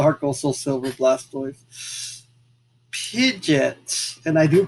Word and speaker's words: Pidgeot: Pidgeot, and I do pronounce it Pidgeot.